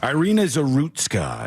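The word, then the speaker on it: Iryna Zarutska: Ireina Zerutska is how you say her name.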